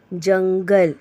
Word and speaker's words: जंगल: जीम नून जन, गाफ लाम गल, जंगल। यहाँ नून साइलेंट है।